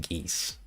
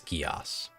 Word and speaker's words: Geass: always just pronounced it geese, like the animal. Okay, let's check this one out. Anime, in anime, gi like geese, Geass. Okay, so it's Geass.